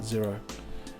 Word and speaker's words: Xero: actually yet it's actually yxo but they just pronounced it zero zero QuickBooks I think I bought my last